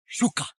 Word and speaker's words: shuka: It translates phonetically into your language as the word shuka.